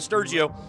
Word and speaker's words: Sturgio: They said, yeah, that's perfectly fine, but Sturgio is how you pronounce his full last name.